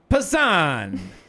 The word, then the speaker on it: Passan: I always don't know how to pronounce that. I think it's Pan. Yeah, Jeff Passan. Passan.